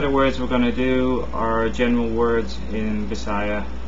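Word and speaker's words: dili: no which is D it's spelled D i l i but say it as if it's a e as an egg D next word is yes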